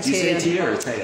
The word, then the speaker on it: Teia: to go back to tv i say yeah because i'm from brazil so that's how you pronounce it but a lot of people say tiana the whole world